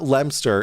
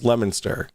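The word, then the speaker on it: Leominster: It is not Lemster. It is Lemonster. Like, don't don't don't start pulling that on me.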